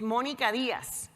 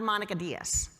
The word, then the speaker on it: Monica Diaz: reasons number one because the way I learned how to pronounce my name is Monica Diaz not Monica Diaz and because Spanish is